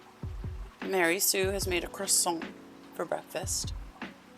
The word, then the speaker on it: croissant: Mary Sue has made a croissant for breakfast. You got to say it like croissant. Like real French.